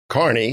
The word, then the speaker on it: Carney: give a speech and people have trouble pronouncing it kearney or kearney i always tell them you drive a car and this is your knee just carney hey i like that